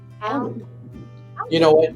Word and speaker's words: Almin: name right, because I've always been calling him Almin, like almond, like the nut, but his name is supposed to be pronounced as Almin. Almin.